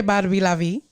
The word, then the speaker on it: Barbie LaVie: Did I pronounce that right? Absolutely. Mm-hmm. Or you could say Barbie LaVie.